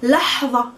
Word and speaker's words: لحظة: لحظة, let's pronounce it good together. لح, it's the ح of حمار, the sunglass edge. لحظة, ظ, tongue between the teeth, and the sound, the place of articulation is really deep and far in the throat.